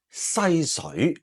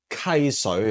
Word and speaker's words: 溪: 應該讀作西水。喂喂，細聲啲啊你，呢個字讀溪啊，溪水啊，唔係西水啊，西水。